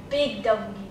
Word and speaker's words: Big W: Big W. Tá vendo, gente? Já vem a palavra big, que brasileiro adora falar big, né? Não é big, é big. Big. Big. G, g, g, g, g, certo?